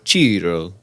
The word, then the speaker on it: Ciro: no, you say it like this. You go Ciro.